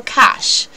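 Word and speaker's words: cache: have to clear your cash this has got nothing to do with the money money money this is spelled c a c h e sometimes you can't log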